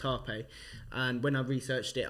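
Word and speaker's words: rapé: to spell rape but it's called Harpe it's pronounced Harpe and when I researched it I thought it's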